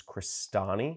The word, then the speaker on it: Crestani: either search and click search for my last name which is crostini I'll spell that out free CR est a and I it's Italian like great grandparents are from northern Italy or you can go